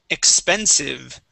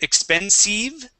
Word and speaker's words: expensive: Let's go to expensive right here. We want to use the short I instead of expensive.